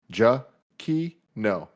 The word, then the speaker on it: Giacchino: His Twitter in his bio says, my last name is pronounced Giacchino.